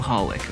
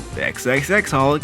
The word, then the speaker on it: xxxHolic: So if by now you're wondering, this show is called Holic, or xxxHolic if you want to pronounce those X's, but then that sounds like a bit of a different type of show.